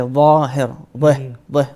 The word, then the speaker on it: ظاهر: We have two types of dad. The one is with the alif. Let's say ظاهر. So you say ظاهر, ظاهر.